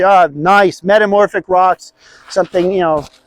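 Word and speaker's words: gneiss: I'd look at the rock types around here and I'd say, oh, nice, metamorphic rocks, something, you know, it's a different environment here. Nice spelled with a G. G-N-E-I-S-S, nice.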